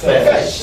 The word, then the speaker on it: fetch: Fetch. As to fetch water. So there is a silent T there.